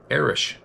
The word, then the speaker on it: Eric: My name is Eric, pronounced Erish, but go by Eric to be easier for others.